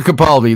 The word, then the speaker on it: Capaldi: mean peter capaldi peter capaldi that's it michael garibaldi i had to speak scotty there for a second it's like okay it rhymes michael garibaldi wasn't he uh um